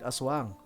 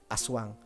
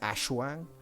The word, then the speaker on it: aswang: These days, yeah, Aswang, right? So what was the drawback there? The drawback was that it tended to be pronounced as Ashwang, which is interesting.